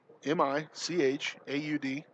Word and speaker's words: Michaud: M-I-C-H-A-U-D, Michaud. That's how I spell it.